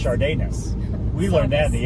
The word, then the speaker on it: Sadeness: And then on this one, you said it's pronounced Sadeness, and I go, no, it's not. And I go, no, it's pronounced Chardayness.